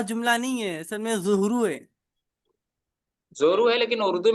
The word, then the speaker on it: ظہر: العشاء، مولانا جی جیسے چلیے، لوگ جو ہے ظہر ظہر بولتے ہیں ظہر کے لیے، تو وہ جملہ نہیں ہے، اصل میں ظہرو ہے۔ زورو ہے، لیکن اردو میں تلفظ یہ